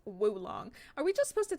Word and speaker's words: oolong: Oolong is woolong. Oh, oolong is pronounced woolong.